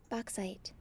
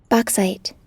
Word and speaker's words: bauxite: u x e how do you say that bauxite bauxite all right ooh she even got a sexy voice wanna hear that again a lot boxite bauxite all right i'm excited about you saying bauxite all right bauxite and we need petroleum coke